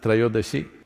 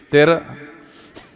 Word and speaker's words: Trayodashi: It is Dhanavantari's Trayodashi. North Indian people must connect, don't go on clipping away one syllable and come Dhanavantari becomes Dhan, Trayodashi becomes Tera. Don't keep clipping it away So, here we are.